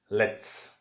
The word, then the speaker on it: let's: So here it's not a z, it's a s. Okay, let's. So let's means let us, but since you've got a separation like that, you make it like more compact, and you have to say let's.